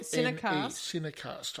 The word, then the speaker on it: Cinecast: C-I-N-E. Cinecast, I think you pronounce it as such, yes.